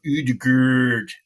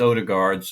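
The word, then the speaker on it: Ødegaard: name and all uh just pronounce it like it's spelled on that name like there was the whole movement for UD and and like that's just silly because it's like it's odard just say odard and it's Holland so just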